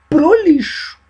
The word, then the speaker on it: prolixo: Então, esse é um sujeito prolixo, escreve-se prolixo. Porque às vezes muitas ideias das coisas que ele fala podiam ir pro lixo, não é? Mas a pronúncia é prolixo. Então, essa é uma qualidade de um bom texto, concisão.